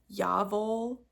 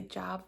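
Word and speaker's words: Jawoll: So I'm using the Lang yarns, and how you pronounce this is actually Yavol, but people say Jav or Yawol, but it's actually Yavol because it's German, and W's are always V's, and I did look it up.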